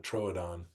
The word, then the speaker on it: Troodon: I don't know uml but those two dots and that was to emphasize that it was two different syllables that it wasn't trudon but it was Troon trodon yeah I still see